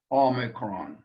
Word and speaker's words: Omicron: Omicron is a vowel again, and really shouldn't give us any problems, except in the pronunciation of it, that we don't confuse it with the long O sound.